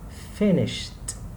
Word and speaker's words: finished: The second, finished, finished. As you can see, a T sound, column number 2.